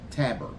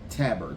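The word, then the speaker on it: Tabor: special teams coordinator, Chris Tabber. At least that's the way I'm pronouncing it. I haven't really heard people say it very often. So Tabber, T- A B O R. So we're going with Tabber.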